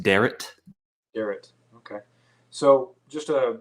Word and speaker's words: Derrat: third podcast uh today i have uh duret is that how you say the last name uh no uh it's okay everybody pronounces it that way anyways it's actually pronounced deret garrett okay so just uh just a quick